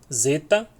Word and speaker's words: Zeta: Zeta, que é o dizer em Edson. Olha que interessante. Que o Z aqui é mudo. Esse D, o D com Z é mudo. Então é como se fosse o D fosse mudo, mas ele está ali. Então Edson, Edson, dizer, dizeta, dizeta. Tá?